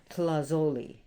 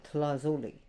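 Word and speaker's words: tlazolli: Now, if you look at the word, and it's going to sound like an Italian pasta dish, Tlazoli. Tlazoli, right?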